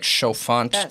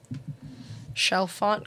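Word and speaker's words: Chalfant: but that looks like shaant to me that's not how they spelled it they spelled it c h a l f a n t shell font kind of sounds it's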